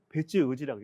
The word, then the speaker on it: 別氏: 센타크 데키 선택적 후후 부부 배치우지 뱃세 별성이라고 하는데 이 법률 용어는 별시입니다. 읽을 때는 배치우지라고 읽습니다.